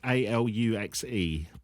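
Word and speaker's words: aluxe: His article says, in Maya culture, the Alux, I think it's Alux, A-L-U-X-E, but I think it's pronounced Alux.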